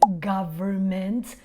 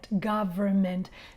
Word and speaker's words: government: I mentioned the noun government, because I do want to share the phonetic with you guys here so that you know how to properly pronounce it. Government. Many students say government. No, government.